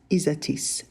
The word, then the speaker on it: Isatis: that's isatis from Joni and yes it is pronounced isatis not isatis or atis next up we've got